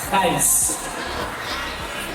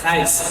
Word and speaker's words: Gijs: So, my name, nama saya, Gijs. Gijs. And that is pronounced as Gijs. Gijs. It is very Dutch, Belanda.